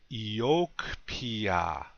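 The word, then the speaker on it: iyókipi: that word first okay accent on the second syllable repeat after me please yoke Pia one more time yoke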